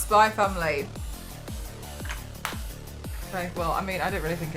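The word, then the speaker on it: Spy × Family: Spy, it's pronounced Spy Family.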